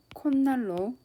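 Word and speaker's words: 콧날: 날이 결합하는 겝니다 자 이렇게 결합이 되면 빠름을 할 때 콘 날로 발음을 합니다 자 조건을 보겠습니다 암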